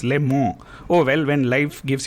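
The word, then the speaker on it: Le Mans: i've been told that it's not pronounced les mans it's pronounced lemon oh well when life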